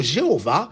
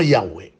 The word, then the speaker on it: Yahweh: Le mot Jéhovah, c'est une prononciation défectueuse du nom Yahweh.